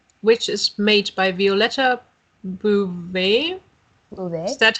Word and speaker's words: Beauvais: See, Beauvais.